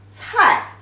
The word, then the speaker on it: 菜: Together, the character pronunciation is 菜, 菜. The fourth tone means vegetables.